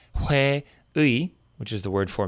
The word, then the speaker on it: 회의: case, is that it'll change its pronunciation to be more like just E when it's at the end of a word, like 회의, which is the word for meeting, as in like a company meeting.